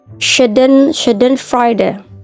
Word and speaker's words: Schadenfreude: Oke, number 10 itu Schadenfreude, Schadenfreude. Itu bahasanya SCH-nya itu khas bahasa Jerman.